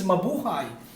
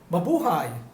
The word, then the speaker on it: mabuhay: right which is not it's mabuhay it's from the word buhay actually in tagalog buhay means life or leave so i always telling that in my opening my video is that baboohai it's something like epidemic